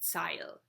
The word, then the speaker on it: Zeil: It's close to the main shopping area called Zeil, which is also in Germany. I'm pronouncing it in English, but in German it would be Zeil.